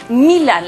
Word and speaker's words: Milan: Se pronuncia Milan. La acentuación del nombre recae sobre la primera sílaba.